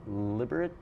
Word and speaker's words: Liberec: Liberec? Maybe was the Liberec. Oh, that's the proper pronunciation.